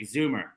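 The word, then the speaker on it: Zouma: And I like the way that you say Zuma, where it's like there's an R, like Zoomer. Kurt Zuma. That like British pronunciation of Zuma.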